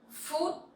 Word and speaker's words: phút: Phút. Food. So PH sound you pronounce like F sound in English, and it sounds similar with food, right?